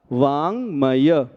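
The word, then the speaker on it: वाङ्मय: शकल अब देखिएगा बाढ़ नहीं कहना है वजन वाला व है और जैसा गंगा में ग गंग बोलते हैं वैसा ग है सो पढ़िए वांग फिर मैं नहीं बोलिएगा मय लिखा है सो सही उच्चारण हुआ वांग मय अब तत्व बोलते समय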